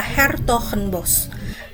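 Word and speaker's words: 's-Hertogenbosch: Nama resmi kota ini sebenarnya adalah Hertogenbosch. Agak susah ya diucapkan oleh orang Indonesia, tapi kebanyakan orang Belanda lebih sering menyebutnya Den Bosch.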